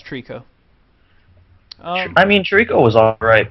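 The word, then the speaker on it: Treecko: I mean, other than Bulbasaur, the only real grass type that I've ever liked was do you pronounce it Trico? Yeah, it's Trico.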